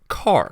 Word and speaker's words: char: type defined by charm you can pronounce it car from character and car you can define a